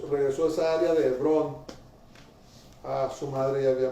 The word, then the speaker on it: Hebrón: Ah, no se pronuncia la H. Hebrón, Abraham, Isaac.